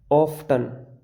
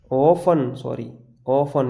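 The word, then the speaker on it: often: ऐसा ही ऑफ्टन, ऑफन, ये कैसा लगा है? ऑफ्टन पढ़ लोगे, ऑफ्टन नहीं ऑफन, यानी कि EN आया बाद में, इसलिए टी साइलेंट।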